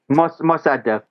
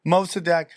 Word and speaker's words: Mossadegh: Makadek? How do you pronounce his name? Mossadegh. Mossadegh.